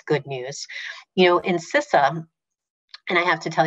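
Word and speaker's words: CISA: news you know in sisa and i have to tell you that because it's a hotly debated topic but we pronounce it cesa um the cyber security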